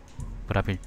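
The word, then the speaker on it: Bravil: 부르마였나? 아니지. 브라빌. 항상 난 이걸 왜 부르마라고 읽을까?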